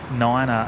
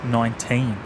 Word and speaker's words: niner: uh Gregory Miller James why do you say Runway Runway 1 Niner and not 19 well um well that's the correct way to say it mate um one ner uh